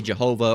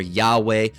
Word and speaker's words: Yahweh: Some people would incorrectly say Jehovah or Jah or Yah or Yahweh, but the correct pronunciation is Yahweh.